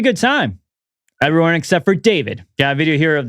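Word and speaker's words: D4vd: His name is David, but I like to call him D4 Vid because of the way it's spelled, but his name's David.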